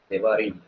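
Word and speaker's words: דברים: So suppose we make a plural of it, it becomes Devarim. devarim. The first syllable R sound is reduced.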